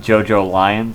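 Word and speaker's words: JoJolion: events of yeah yeah yeah but it's it's pronounced JoJo lion thank you oh listen time time is convoluted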